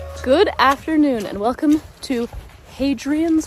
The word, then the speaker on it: Hadrian's: afternoon and welcome to hadrian's wall or adrian's wall if you prefer silent h we are in northern